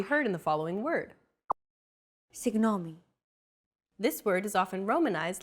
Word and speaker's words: Συγγνώμη: This character isn't pronounced using an English G sound at all. Γ. It's like a very soft, continuous, and loosely held G, almost as if you're gargling, but don't make it sound too throaty.